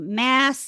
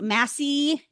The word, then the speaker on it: Massie: your last name wrong is it mass is Massie Massie okay Meredith Massie so Meredith